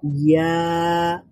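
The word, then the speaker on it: ياء: আর ইয়া বলার সময় আরেকটু ফাঁকা হয়ে যাচ্ছে। তো জিম বলার সময় জিহ্বাটা এবং প্যালাটের মধ্যে যতটুকু ফাঁকা রয়েছে, শিন বলার সময় আরেকটু বেশি ফাঁকা রয়েছে, এবং ইয়া বলার সময় আরেকটু বেশি ফাঁকা রয়েছে।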